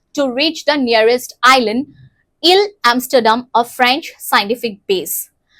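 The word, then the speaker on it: Île: to go to the Ile Amsterdam, a French scientific base. So this is pronounced as Ile, not Isle.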